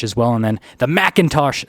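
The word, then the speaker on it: McIntosh: And then the Macintosh sound system. Yes, I said it right, Macintosh.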